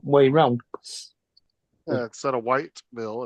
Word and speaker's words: Whiteville: lived in Whiteville, but nobody said Whiteville. They said Wyville. Wyville. Yeah. Like that's how they pronounced it, Wyville. They didn't say any, the T and the E were completely fucking absent from that word.